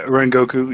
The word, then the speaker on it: Kyojuro Rengoku: Kyojuro Rengoku. Is that right? Oh, I've seen this one. He showed me that. He told me about this one. Yeah, Rengoku.